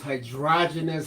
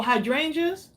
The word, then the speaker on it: hydrangeas: You know what, Zobine, she's asking, are those hydrogenous flowers supposed to be forget-me-nots? Oh, hydrangeas?